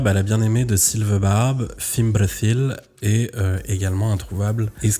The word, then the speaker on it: Fimbrethil: J'ai une petite parenthèse, je dis bien Fimbrethil et pas Finbrethil parce que j'ai décidé de prononcer comme il fallait, autant que faire se